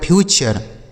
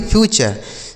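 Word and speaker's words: future: ना तो इसमें यह जो यू है इसका उच्चारण हमें आ करना है। एफ यू टी यू आर ई इसे पढ़ा जाएगा फ्यूचर। एफ यू टी यू आर ई फ्यूचर।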